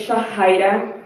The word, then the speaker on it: Shahida: So, my name is Shahida. That is not how it's spelled, but that's how it's pronounced.